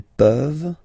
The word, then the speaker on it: peuvent: Je peux, tu peux, il peut, elle peut, nous pouvons, vous pouvez, ils peuvent, elles peuvent, okay? As usual, this ending, this ENT ending, you write it, you don't pronounce it, okay?